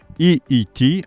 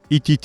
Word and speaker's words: EET: There are two ways to pronounce it, actually: either in Polish, EET Polska, or EET Polska. So, EET, not ETT.